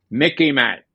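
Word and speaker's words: MICIMATT: Mickey Matt. Okay. It rhymes sort of like Mickey Mouse so you can remember it.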